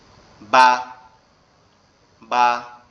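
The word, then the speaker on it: ب: আমাদের এই যে ঠোঁটটা দেখতে পাচ্ছেন, এখানে উপরের যে দুইটা দাঁত আছে এই দুইটা লাগবে, লেগে কি করতে হবে, এই দুটো লাগার পরে আপনার হালকা বাতাস মতো বের হবে, বের হয়ে উচ্চারিত হবে বা, বা।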